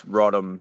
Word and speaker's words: Roddam: call you Nathan uh pronounce rodom so we get rod rod Rodman we get a whole mixure there's not many of